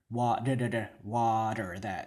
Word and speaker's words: water: Like for example, the American English word for water, water, that T is what we want in water, right? Some dialects of English will say water, water, yeah, but in American English we want that water, that da da da, right? That sound, water.